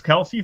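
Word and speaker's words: Kelce: anybody see this travis kelsey thing where he's all of a sudden saying that his his name is actually pronounced kels oh jesus i tell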